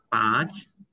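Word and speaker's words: पाँच: Panch. Oh, punch. Swati ki Bukan punch. Bukan punch ya, Rizky. Bacanya itu punch. Ya. Oh, punch. Punch, bukan punch ya. Tapi A-nya dibaca sengau ya, punch gitu.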